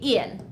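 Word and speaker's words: ils: Yes, I know that there's an S after il, but we still just say il. So we read it the exact same way, il and il. We don't pronounce the S, it's just there to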